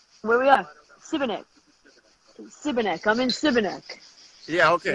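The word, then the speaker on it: Šibenik: Oh, how do you pronounce the city? Sipanek? That's all right? Where we are? Sibenek.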